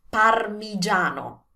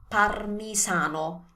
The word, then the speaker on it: parmigiano: Another interesting one, parmigiano. Parmigiano. It's not parmesan, it's not parmisano, it's parmigiano. So remember, J, like in judge.